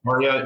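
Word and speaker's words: Karia: Well, first of all, am I Caria, pronouncing it right? Yeah. Okay. Sure. You got it. Caria.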